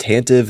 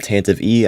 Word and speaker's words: Tantive: 75387 boarding the tantm 4 and yes it's pronounced tantive not tantive e I have no idea who came up with